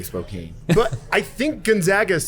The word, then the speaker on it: Spokane: So I can't pronounce it either way. I'm a Gonzaga guy, like Gonzaga. firearm. Gonzaga, or what about Spokane? Spokane. It's not Spokane. I used to say Spokane.